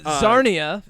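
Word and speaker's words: Czarnia: He is an alien from the planet Zarnia. Rhymes with Narnia. Narnia. You say Narnia. Uh, Zarnia, spelled with a CZ, of course.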